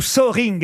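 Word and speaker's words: Soehring: C'est son vrai nom, Hans-Jürgen Zoring. Il vivait en France Ou Soring, hein, vous prononcez comme Oui. vous voulez.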